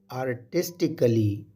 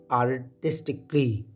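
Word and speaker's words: artistically: से मोहब्बत से एडरिंग इस एडवर्ब को आर्टिस्टिकली प्रोनाउंस करना गलत है बल्कि इसे हम प्रोनाउंस करेंगे आर्टिस्टिकली आर्टिस्टिकली यानी क्ली की आवाज के साथ कली की आवाज के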